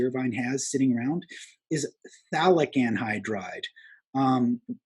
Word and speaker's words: phthalic: has sitting around is phthalic anhydride um we don't pronounce the the f sound the ph sound we just everybody says phthalic anhydride and so let's go